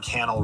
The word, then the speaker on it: Cannell: My name is Sean Cannell, rhymes with YouTube channel.